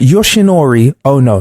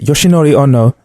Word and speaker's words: Yoshinori Ono: Yoshinori Ono. That's it. Yoshinori Ono.